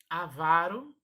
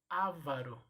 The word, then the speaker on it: avaro: Avaro e não ávaro, ok? Então são as pronúncias corretas dessas palavras.